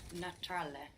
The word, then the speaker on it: naturale: We have in English natural, but in Italian you will pronounce the T like a T. Naturale. Naturale. So Italian likes consonant vowel, so you will really split that up. So like where in English we eat that U up, natural, we completely eat it up, but it's there. So in Italian we can pronounce that U clearly like an U.